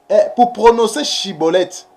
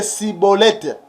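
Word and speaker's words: Shibboleth: Parce que les Éphraïmites, ils avaient des difficultés pour prononcer Chibolette. Et ils prononçaient que Cibolette.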